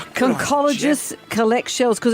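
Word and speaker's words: conchologist: Concologists collect shells cuz it's spelled conologist and conch was the giveaway, but it's pronounced concologist.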